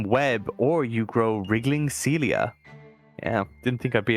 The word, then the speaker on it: cilia: I was trying to look at that and trying to pronounce that, and all I was coming was Kilia. Cilia.